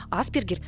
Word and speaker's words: Аспергер: Ударение в названии диагноза в России ставят как на первый слог, так и на второй. Аспергер, по-английски Эсперргер, закрепилась, потому что первая информация о синдроме поступала из англоязычной среды, а на второй слог,